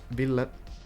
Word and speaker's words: Ville: It is Ville. That's the Finnish pronunciation, but I don't really mind if you say like Ville or whatever you find comfortable. But yeah, Ville would be the correct one.